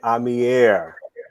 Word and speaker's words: Amier: And we got my man Amier in the house. You got to say it like that because it's Frenchish. It's Frenchish, Latin French.